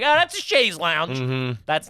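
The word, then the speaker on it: chaise longue: like oh that's a sha Lounge that's not something I heard a lot and or comfortable in the French pronunciation Shaz Lounge or something that's a shayy lounge bonjour hello uh okay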